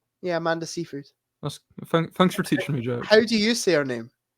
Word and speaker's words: Seyfried: Yeah, Amanda Seyfried. Thanks for teaching me, Jack. How do you say her name? I never knew. I always said Oh, I okay. always just called her Amanda Seinfeld.